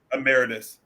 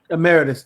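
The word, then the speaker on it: emeritus: think I think terce I'm pronouncing that incorrect isn't that ameritus ameritus thank you isn't that an honorary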